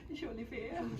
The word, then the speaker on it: Jolivert: Jolivert.